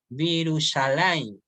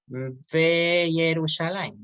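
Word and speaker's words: וירושלים: Entonces vamos a pronunciar Virushalayim, Vi. ¿ya? Virushalayim. Ojo con eso. Virushalayim. No se va a pronunciar Yerushalayim, no.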